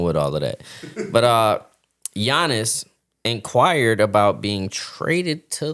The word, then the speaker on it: Giannis: You don't pronounce it. It's Giannis Antetokounmpo.